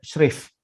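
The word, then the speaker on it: schreef: Nama syerif sendiri diambil dari bahasa Belanda shrif. Bacanya shrif.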